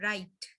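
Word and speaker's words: right: GHT को हमने क्या आवाज आ रही है? राइट। ठीक है, GH साइलेंट हो रहा है, राइट।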